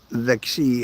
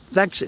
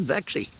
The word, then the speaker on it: Vixie: going to make it Vixie hello I was watching your YouTube shorts a few days ago if you're wondering my name is pronounced vexi that's what I just said vexi thanks for coming in